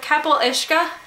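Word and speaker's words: capall uisce: here's here she says um i went with kapil ishka and so and she puts the pronunciation in the author's note which is something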